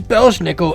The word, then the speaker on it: Belsnickel: Belsnickel and Pell's nickel so his name is belshnickel and anything that rhymes with belushnickel nickel the name literally translates as